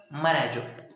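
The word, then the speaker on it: Marajó: मोरैजो। मराजो है वो, sorry wow, मैं तो प्रोनाउंसिएशन भी गलत कर रहा हूँ। मराजो, मराजो।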